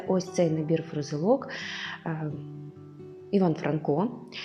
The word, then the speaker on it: Франко: трохи запитаю так от правильніше в його прізвище наголос зробити саме на перший склад Іван Франко поїхали далі ось це